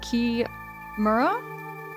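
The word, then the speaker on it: chimera: Cra, because ch has always been told to me it is pronounced ch like ch. You know, you can say key or c. Okay, so it's key Maur.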